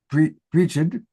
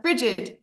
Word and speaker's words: Bridget: I don't know if you pronounce it Brigid. It's Bridget.